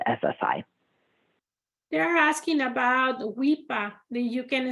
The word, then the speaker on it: WIPA: SSDI over to SSI they're asking about the weepa you can spell that or we can share the resource I'm gonna I'm just gonna go ahead and give it um to you imagine Enterprises runs wipa w-i-p-a and a and an 800 number for